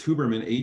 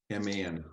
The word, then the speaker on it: Huberman: It's Huberman, Huberman, Huberman, just as it kind of like phonetically goes out.